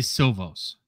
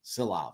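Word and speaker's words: Šilovs: Ur URS sils y my brain always wants to say silos yeah you have it right I'm looking at the pronunciation guy at last name SI i- lvz silov at least you did that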